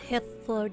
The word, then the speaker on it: Hythlodaeus: Hythlodaeus.